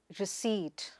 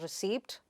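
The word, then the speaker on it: receipt: So, you say, you pronounce it as sa-wuh. The next word is ri-seet. It is not re-cei-pt or recipt, but ri-seet.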